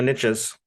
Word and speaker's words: niche: Yeah, saying with the proper pronunciation, niche, it doesn't rhyme, but oh well.